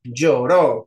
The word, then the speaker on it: lloró: cuál sigue sigue lloró lloró y es Lloro porque es aguda si yo les dije que todas eran agudas Así que no hay manera de que esto sea lloro es lloro así que dime lleva tilde